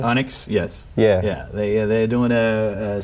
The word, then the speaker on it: Onyx: Onyx, yes.